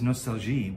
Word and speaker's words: Nostalgie: sketchbook form and this apparently it's pronounced nostalgi as opposed to nostalgia i guess that's german makes sense honorable is a german